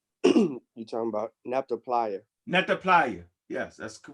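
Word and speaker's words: Nabta Playa: Nah, I said, you said Napata. You talking about Napta Playa. Napta Playa. Yes, that's the correct pronunciation of it.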